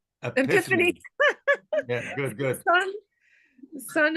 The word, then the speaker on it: Epiphanes: Epiphanes Epiphanes Yeah, good, good.